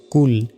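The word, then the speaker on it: قُلْ: উচ্চারণ করি বলি যে কুল কুল নয় বলতে হবে কুল কুল মোটা করে কফ লাম পেশ কুল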